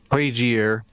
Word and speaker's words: Plagiere: Plagiere, yes. Yeah. Plagiere.